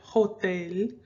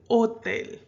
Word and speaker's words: hotel: have words like sofa hotel remember the h is silent okay so you don't pronounce it hotel you say hotel okay you also have